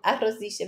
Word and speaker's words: arrossisce: Então, arrossisce vem de rosso. Ela fica vermelhinha, né? Rossi, né? Rosso, rossisce. A pronúncia aqui é complicada, né? R2S, SC tem som de che, arrossisce.